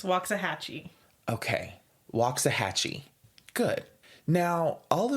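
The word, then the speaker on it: Waxahachie: other cities, including Cedar Hill, Grand Prairie, and Waxah Hatchee. And I know that that city is not pronounced Waxahhatche. Waxahhatchee. No, Cameron, really? What is the pronunciation? It's Wahhatchee.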